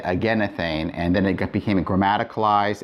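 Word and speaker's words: ἐγενήθην: And it's irregular because you don't expect that eta there, but it is. And again, it's probably because of pronunciation. If you say againthane, that's really hard to say. And so over time, it was just simply easier to say againethane, and then it became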